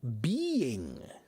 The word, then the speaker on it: being: Linda wants me to pronounce the word Ben and being. Being. Linda. Ee. Make your mouth wider.